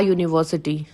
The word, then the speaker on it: university: like for example a university so the sound starts with yo sound uni yo university an hour silent h